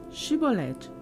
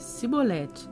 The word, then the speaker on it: Shibolete: Se respondessem que não, diziam: Então diga: Shibolete. Se ele dissesse Sibolete sem conseguir pronunciar corretamente a palavra, prendiam-no e matavam-no no lugar de passagem do Jordão.